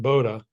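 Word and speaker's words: Bodø: b o do O It's pronounced Boda was that your final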